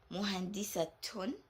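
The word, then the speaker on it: مهندسة: letter at the end, but we pronounce this as muhandisatun. We pronounce this as ta, and jamilatun, tun.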